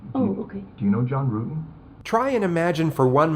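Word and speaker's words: Ruetten: John Rutten? Rutan. The investigators already knew how to say John Rutten's name correctly. The mispronunciation was a simple strategy to see how the suspect would react.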